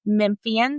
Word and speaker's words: Memphian: I am a native Memphian.